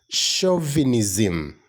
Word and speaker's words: chauvinism: how do you pronounce that word the correct pronunciation of this word is shavinism chauvinism all right that kind of superiority belief that